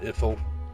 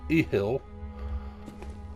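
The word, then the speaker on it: Ithyll: Not Ithil, Ehil. I always pronounce that wrong because I'm used to Irithil and stuff, and so I say Ethil, but it's Ehil. How do you pronounce that? Ehil, there's no T in it.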